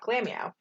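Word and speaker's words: Glameow: say it that way it's glam meow like it's all one word glammy out it's glam and meow are both being said that's why it's that glamio yeah yeah yeah that's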